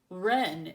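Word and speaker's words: wren: more hi I'm a Oh silent W yep in words like Ren and wrists oh okay well that's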